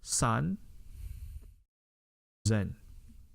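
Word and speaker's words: 三千: San zen. Okay, san zen. San zen. Okay, so this is sanzen or sanzen, depending how you want to see it.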